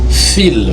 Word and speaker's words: fils: On parle d'un câble aussi, ça se prononce automatiquement fil, même si c'est au pluriel. Automatiquement, le S est devenu maintenant muet.